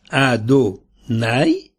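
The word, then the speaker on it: Adonai: pas à ce monde-ci dans ce mondeci son nom s'écrit et se prononce ad naï tandis que dans le monde àenir il sera prononcé comme il est écrit ce passage l'mara bien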